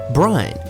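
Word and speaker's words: Bryne: had begun his own professional career Brian startings Brian which should be pronounced as such if you want to stay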